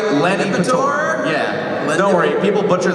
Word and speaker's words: Lanipator: You might know better as, am I pronouncing it right? Lanipator.